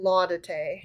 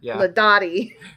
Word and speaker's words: Laudate: So the Laudate Psalms, which I've decided to pronounce it Laudate. Okay. Yep. Because the other way sounds too much like la da dee, la da da. You know, Laudati.